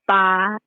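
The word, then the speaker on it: 发: It's pronounced fa, and it also sounds like fa, which means prosperity in Chinese.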